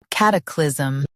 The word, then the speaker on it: cataclysm: Both US and UK have the same pronunciation of this word. Cataclysm. Now read the syllables shown on the screen naturally. Cut. Clee. Zem. Cataclysm. Emphasize cat and soften cliz.